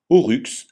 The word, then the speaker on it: oryx: Enfin, Y se prononce U, comme dans buse, jamais I comme dans mystère. Exemple, aurux, la gazelle.